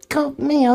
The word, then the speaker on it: Mayo: The name is from the Irish Mayo. Pronunciation Mayo, much like the condiment.